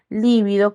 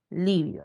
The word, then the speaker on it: libido: la palabra seis les estaba diciendo líbido con v va con tilde por ser esdrújula libido no palio pero hay otra palabra que es que no vamos a confundirnos que es libido inhibido nos lleva tilde no la libido se refiere al deseo sexual Entonces no lleva Tiles palabra grave terminada en